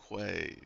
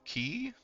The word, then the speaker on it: Quay: Starfarer's Quay. Key, right? I don't fucking know. I am so bad at knowing it's words key. pronunciation. It's Yeah, key. I was like, I'm just intuitively pronouncing it, phonetically, and I'm like, wait, no, that's key.